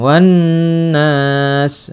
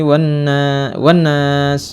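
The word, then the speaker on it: والناس: Wan nas, nasnya mad 'arid lis sukun, ya. Jangan minal jinnati wan nas, salah, harus dibaca agak panjang.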